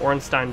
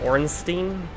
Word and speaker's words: Ornstein: the community calls him orstein but if that's a German derivative it is pronounced Stein so I call him orstein and it is pronounced